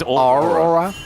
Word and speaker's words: Aurora: He just kind of it's actually pronounced Aurora.